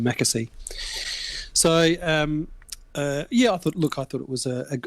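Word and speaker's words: McAsey: fishing Mecca see I was watching say it's Mecca see that's how you pronounce his name Mecca see so yeah I thought look I thought it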